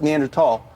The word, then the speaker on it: Neanderthal: You're a Neanderthal. Uh, first of all, it's pronounced Neanderthal.